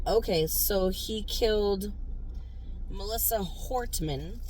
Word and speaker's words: Hortman: So, he killed Melissa Hortman. Hortman, not Hartman.